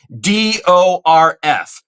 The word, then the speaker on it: Teschendorf: David Teschendorf. Let me say that one more time and spell it for you. Teschendorf, even though it should be Teschendorf. It's Teschendorf, which, by the way, his